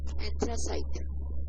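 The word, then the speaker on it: anthracite: ਐਂਥਰਾਈਟ सही प्रोनाउंसिएशन जी पंजाबी च लिखी हुई है एंथ्रासाइट। सो यही है प्रोनाउंसिएशन है एंथ्रासाइट।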